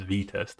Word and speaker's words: Vitest: I'm saying Vitest. It's pronounced as V-test, okay? Yes, it is V.